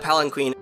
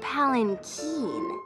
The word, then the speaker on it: palanquin: able to retrieve that palanquin. Actually, it's pronounced palanquin.